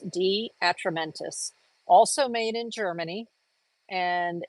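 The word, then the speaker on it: De Atramentis: And that's D Atramentis. So it's spelled DE and then Atramentis. D Atramentis.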